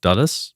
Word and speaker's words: Dulles: I think it's pronounced Dulles.